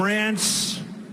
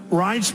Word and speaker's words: Reince: And I said before, nobody knew how to pronounce his name. It's a crazy name. They called him Rance. Steve Wynn just called him. He's still not pronouncing it right, Steve. But Reince Priebus, now everybody pronounces his name right.